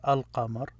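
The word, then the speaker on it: القمر: letters or almost half when you attach l to it you pronounce the l another one they're called if you attach l to it it becomes alkamar so you have to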